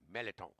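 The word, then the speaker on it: mirliton: Appetizer features today: Louisiana crab cake with an orange beurre blanc, fennel melliton slaw, like my grandma used to say. It's spelled merliton. It's pronounced melliton.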